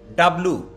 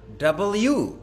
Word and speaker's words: W: Time next ডাব্লু No, sir. You're wrong. আই am wrong The correct pronunciation is W. ডাব্লিউ Yes, sir. ও ডাব্লু বলা যাবে না বলতে হবে ডাব্লিউ Yes, sir.